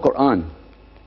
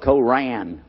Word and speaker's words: Quran: is when you introduce the Quran it's called Quran now in Texas a lot of people mispronounce it they call it Koran but it's Quan but regardless of what you